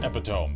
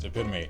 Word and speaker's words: epitome: embarrassed to realize that it's not pronounced epitome it is in fact pronounced to pin me and I've had to